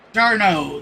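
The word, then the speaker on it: d'Arnaud: de Ahmad or D train I still struggle pronouncing his name Rosario and Travis darno darno there we go darno started that rally swing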